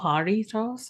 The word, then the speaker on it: Jarritos: Is it Jarritos? I don't even know how Jarritos, I pronounce it. Oh, Jarritos. Okay. Jarritos. Thank you. Thank you for the authentic Mexican pronunciation.